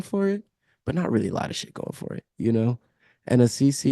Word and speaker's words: Assisi: Assisi, yeah, Assisi, Assisi.